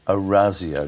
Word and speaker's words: Orazio: The Italians would say that you get Fantasia's name wrong. It's a softer Z sound. How should it be? Orazio, not Orazio.